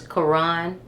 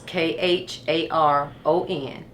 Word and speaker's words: Kharon: So, tell me how to pronounce your son's name and spell it. His name is Kharon. Kharon Davis. It's Kharon.